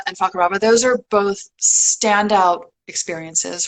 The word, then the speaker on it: Fakarava: of Rangiroa and Fakarava, everyone's favorite island to pronounce. Fakarava. So it is Rangiroa and Fakarava.